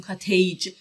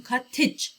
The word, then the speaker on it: cottage: ببینید این ای که قبل از جی هست صدای ای کوتاه داره، پس نمیگیم کاتیج، بعد بگیم کاتج ای، و اینجا هم impressive همون صدا رو میشنویم، یه ای کوتاه.